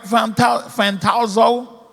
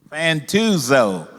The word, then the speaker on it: Fantuzzo: Can you tell me something about Frank Fantazzo? Did I say it right, Frank? Fantazzo. You say it. Fantuzzo.